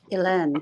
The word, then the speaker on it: Hélène: Hélène. Yeah, French. You don't pronounce the H.